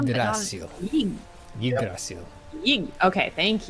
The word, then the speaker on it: Yggdrasil: Dirk Pit Rivers says, FYI, the stress is on the Y in Yggdrasil, so it's pronounced like Yggdrasil, just with a Y.